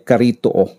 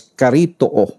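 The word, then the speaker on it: χαριτόω: ay sa Greek Ay karito karito sabi ng iba pero ang tamang pronunciation doon is karito na Ibig sabihin po ay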